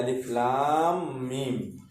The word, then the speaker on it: আলিফ লাম মিম: এই বামে তাজদিদ আসার কারণে এটা মোটা হয়েছে। তাহলে উচ্চারণ করি আবার, আলিফ লাম মিম।